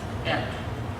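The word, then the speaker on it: את: For example, the first sentence in Genesis 1 in Hebrew, Bereshit bara Elohim Aleph Tav, pronounced et.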